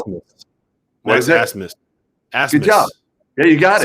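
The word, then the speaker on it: Abmas: Well, I want to hear you pronounce Oral Roberts' best player's last name, because it is spelled. Asmus. What is it? Asmus.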